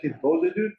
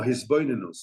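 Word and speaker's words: התבודדות: Wait, you said Hisbodedut? No, Hisbodedus.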